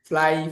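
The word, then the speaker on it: flew: আমরা সারা জীবন শিখছি কি, ফ্লাই, ফ্লিউ, ফ্লোন, ফ্লাই, ফ্লিউ, ফ্লোন। উচ্চারণটা কি ফ্লিউ না, ফ্লাই, ফ্লু, ফ্লোন, ফ্লু, ফ্লাই, ফ্লু, ফ্লোন।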